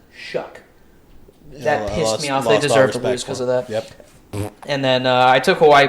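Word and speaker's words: Shough: I hate that Chuck his last name is spelled s-h-o-u-g-h and it's pronounced shuck and then I took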